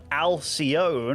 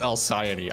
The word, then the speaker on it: Alcyone: Spawning over in the top right here on Alcyone, or Alky1 as Rotterdam does like to call it, it is Elazer. I believe it's pronounced Alcyone. I think that's it.